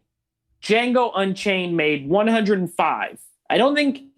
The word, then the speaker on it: Django: box office numbers for Django or Django because D is silent Unchained from uh what